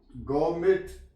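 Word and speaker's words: gourmet: है य ये लफ जी यू आर एम ई टी गोमट य पर टी साइलेंट है गौर में पढ़ेंगे गर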